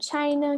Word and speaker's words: China: Depois a gente tem o China, que a gente conversou. O i tá no final da sílaba, então ele fica com som de I, China.